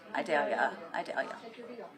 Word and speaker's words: Idalia: I would try and pronounce the hurricane, but I keep saying Idalia. Idalia. Yep, it's just like a Vidalia onion.